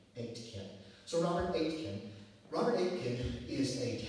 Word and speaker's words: Aitken: It's spelled A-I-T as in Tom, K-E-N as in Nancy, pronounced like the number 8, and Ken as in your next of kin, Aitken.